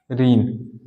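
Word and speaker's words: reign: है हस्ताक्षर ठीक है साइन हो गया जैसे रीन इसको क्या पढ़ेंगे हम रीन रीन का मतलब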